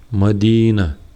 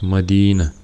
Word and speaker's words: Мадина: Мадина с ударением на ди, Я лахтара ударение цикч. Я без огласовок лахта сбанч ударение цик. Мадина.